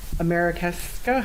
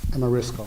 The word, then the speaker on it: Amarisco: Approval to negotiate and award design build alternative method contract with Americasco. How do you say that? Amarisco. Thank you.